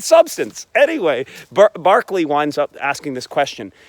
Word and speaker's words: Berkeley: actually Bishop Berkeley right he spells his name Berkeley but he pronounces it Berkeley what is that I